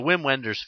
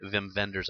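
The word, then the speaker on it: Wim Wenders: reased in any format it's a whim Wenders film excuse me Vim venders I believe is how it's actually pronounced about a group of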